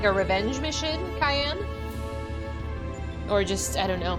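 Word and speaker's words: Cyan: there were ghosts in the simulation so who was Siegfried it fixed the main bad guy it's pronounced Cayenne I didn't know if it was Kane or how to pronounce it or Scion okay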